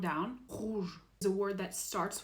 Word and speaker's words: rouge: Rouge is a word that starts with an R, so you really have to try to get there.